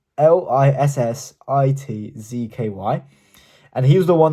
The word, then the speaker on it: Lissitzky: The artist is called Lissitsky. It's Lissitzky.